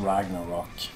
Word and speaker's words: Ragnarok: And we put the umlauts above the O, so we say Ragnarök. But the band is pronounced Ragnarok.